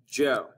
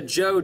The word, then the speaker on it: Zhou: is the zhou dynasty while it's spelled with the z it's pronounced like the name joe the joe dynasty number two where